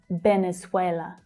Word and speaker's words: Venezuela: Venezuela. Venezuela. Notice that in English, the pronunciation of that V is V, V. Instead of B, Venezuela, it's V, Venezuela.